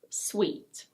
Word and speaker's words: suite: Now if you put an E on the end of "suit", the pronunciation changes completely. This is: suite. Suite. It's pronounced exactly the same way as this word: sweet.